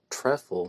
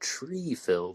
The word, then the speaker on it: Treffel: And Libby Morgan was the one who actually told me that his name is pronounced Treffel, not Treefil, the way that I was saying in the bonus episode.